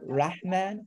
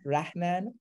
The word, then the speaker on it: Rahman: feels very different so not rachman rahman so a rock man